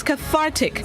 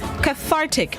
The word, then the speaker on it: cathartic: day this morning's word of the day is cathartic cathartic it's spelled c-a-t-h-a-r-t-i-c cathartic it's an additive which means